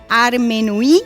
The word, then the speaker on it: Armenui: la historia de tu abuela Armenui, si es que lo pronuncio bien, que reflejaste a través de tu primer libro, justamente que se llama así, No me olvides, Armenui? Sí, perfecto.